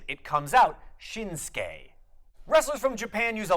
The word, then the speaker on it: Shinsuke: So if you've ever been wondering, why don't they pronounce Nakamura's first name Shinsuke, it's because that U also gets suppressed in the pronunciation. It comes out Shinsuke.